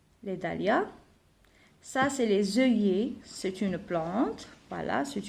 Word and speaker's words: œillets: Alors, deux L ici, je la prononce comme comme le Y. Des œillets. Je ne prononce pas le T, je ne prononce pas la lettre S.